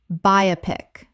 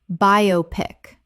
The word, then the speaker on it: biopic: Biopic. Correct pronunciation. Biopic. Three syllables. It is short for biographical picture, not a single word.